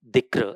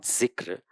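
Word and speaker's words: dhikr: This practice of dikra as it's pronounced in Arabic or how we call it zikra the repetitive invocation of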